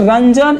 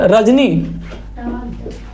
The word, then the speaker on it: रजनी: लिखा, बट रंजन is dash intelligent girl, but रजनी, रजानी नहीं है, रजनी है।